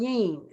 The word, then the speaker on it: yin: look at the and you're saying yen you're saying yin is that the correct pronunciation yes so in in when